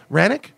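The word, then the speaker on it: Hranek: Lastly, I got this book by Matt Hranick. Is it Hranick? Do you know how to pronounce Matt Hranick? Hranick? Yep. Is the H silent? Pretty much silent. There's a little bit of a Hranick.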